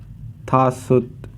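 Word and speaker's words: 다섯: कहते हैं नेत फाइव को हम कहते हैं था सुत था सुत सि को हम कहते हैं यस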